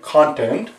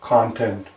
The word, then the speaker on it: content: This sound is same as the sound that you see in pot. Right here. P-O-T, pot. Right on the first line. Right here. Content. O, content.